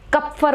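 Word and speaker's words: Kupffer: करने के लिए, उन्हें कुप्फर सेल्स कहते हैं। कप्फर बोल लो, ज़्यादा प्रोनाउंसिएशन में वो है तो मुझे जो मर्जी बोल लो, कप्फर कुप्फर जो मर्जी बोलो।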